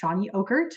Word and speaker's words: Chany Ockert: And again, her name is pronounced Chany Ockert, which is helpfully on her Zoom.